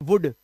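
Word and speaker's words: would: ओ यू एल डी वुड इसमें भी L silent वुड वुड मतलब करेगा या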